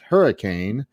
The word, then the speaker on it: Hurricane: refer to it as hurricane they refer to it as hurricane hurricane hurricane hurricane west virginia hey where are you from hurricane really they almost say it in one syllable it's it's really it's